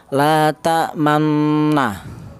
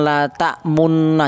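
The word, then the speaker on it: لَا تَأْمَنَّا: Jadi dia dicampur antara harokat fathah dan harokat domah. Jadi cara bacanya la ta'manna ya. Ujung bibirnya mencucu ya.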